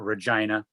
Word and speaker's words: Regina: away from the prairies that is how you pronounce it a regina small town in northwestern north america but when